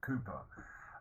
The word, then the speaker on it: Cowper: Another important poet is William Cowper, special pronunciation for the name, Cowper.